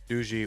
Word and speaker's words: DuzyK: And anytime I try to pronounce, you know, names from Poland, I'll be like, "Douche." And they'll be like, "No, it's doo."